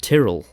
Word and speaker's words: Tyrell: According to the TV series official pronunciation guide, developed for cast and crew in Season 1, Tyrell is officially pronounced Tyrell. Because that's what Loras calls their name.